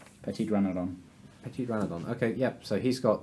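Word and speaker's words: Petiteranodon: Petitrodron. Petitrodron. Petit dragon. What? Petitrodon. Petitrodon. Yeah, that one. Oh wait, no, it's a mastodon. Oh. So it's a Petitranodon. Petitranodon. Petitranodon.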